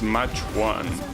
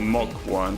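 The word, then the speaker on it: Mach: Oh, the next one is match 1. Well, mock 1, sorry. That's how you pronounce that, apparently.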